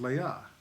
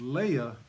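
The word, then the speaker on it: Leah: the younger was Rachel actually her name is pronounced Leia I just wanted to check that real quick so it's Leia and Rachel actually his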